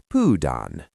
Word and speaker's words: pyydän: The t turns to d when crowded. Student pudan.